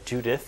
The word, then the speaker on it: Judith: We're going to be looking at and interviewing Judith, or Judith if you prefer the English pronunciation.